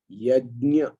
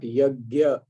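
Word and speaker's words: यज्ञ: and if you are listening carefully the pronouncies pronunciation is yajna it's not yagya the gear which normally is said in the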